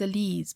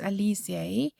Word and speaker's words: Alize: found at my local wool shop it's called alize in fact i thought it was elise but i i had to google to listen to the pronunciation so it's alicia this is the puffy fine color and i